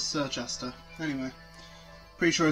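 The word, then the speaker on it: Circhester: how to say this it's not churchester it's sir chester anyway pretty sure i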